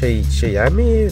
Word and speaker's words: Shayami: Shayami, that's how you pronounce it.